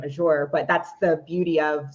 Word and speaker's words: Azure: I pronounce my name Azure, but that's the beauty